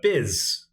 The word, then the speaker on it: Byz: This is a game I just played about an hour or two ago against Biz. I think it's pronounced Biz. I think it's short for Byzantine Empire.